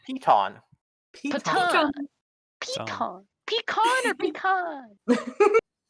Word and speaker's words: piton: So, fun fact, it is pronounced piton.